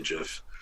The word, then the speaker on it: GIF: jiff i don't say jiff but you're supposed to say jiff because the guy that wrote jiff pronounced it jiff so oh you think